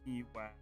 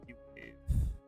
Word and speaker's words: TWAV: A multiplayer stream TWAV, or T-Wave, because you know Terraform Vibe. That's my acronym for it is T-Wave, or T-WAV, depending on how you want to pronounce it.